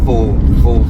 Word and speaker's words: faux: It's not fox finish, so don't beat me up over that. Whoever watch these things and know about these things, it's faux finish. I heard them pronounce it faux finish, or faux finish.